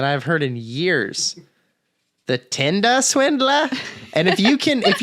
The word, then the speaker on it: Tinder Swindler: way that we are you are saying it wrong yeah it is not her tender swindler get out of here it is the tinder swindler for i am the